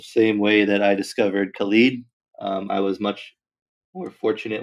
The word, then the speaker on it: Khalid: there Diamond doesn't also is it colleague or is it Khalid it's Khalid and I had to google